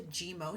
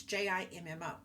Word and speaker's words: Jimmo: Let's discuss what actual CMS.gov states about the GMO settlement, or GIMO. I'm not sure how to say it. It's JIMMO.